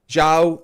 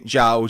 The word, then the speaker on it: João: Okay, now I know I have an accent, but having spoken to João Jesus, the Portuguese driver, he has given me permission to use the hard J, right? I tried to pronounce it João Jesus. He said, no, the sound does not exist in the English language.